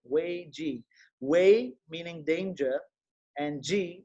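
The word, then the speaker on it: 危机: And if you haven't seen this, you should know the Chinese word for crisis is Wei Ji. That's how you say it, Wei Ji.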